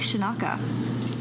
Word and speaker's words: Scinocca: and interviewing it's shanaka that is the italian pronunciation so right here is